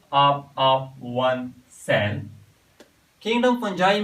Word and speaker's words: fungi: तो आज का हमारा टॉपिक है किंगडम फंजाई, या बाज लोग इसको फंगाई भी प्रोनाउंस करते हैं।